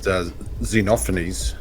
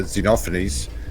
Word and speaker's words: Xenophanes: I think it's pronounced Xenophanes, but I'm not actually sure. Yeah, Xenophanes.